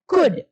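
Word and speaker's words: could: कुड में ल को प्रोनाउंसिएट नहीं करते, एल इज नॉट प्रोनाउंसिएटेड, यानी कि कुड, मे.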